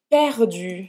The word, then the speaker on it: perdu: Para fazer esse U, lembra? Faz a boca do U e fala I.